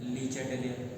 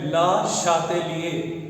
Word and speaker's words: Le Chatelier: ली चैटलियर। ये French scientist है और इनका जो ये फ्रेंच नेम है इसका जो करेक्ट प्रोनाउंसिएशन है वो है ला शातेलिए।